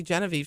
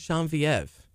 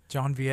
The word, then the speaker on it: Genevieve: She likes it pronounced in the French way because there's French Cajun in my husband's blood too. And she likes Genevieve. Genevieve. That's the Parisian way of saying it, and it's Genevieve.